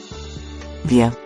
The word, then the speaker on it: wir: The German word for the plural pronoun, we, sounds like wir. The Germans pronounce the letter W a lot like we pronounce a V, in English.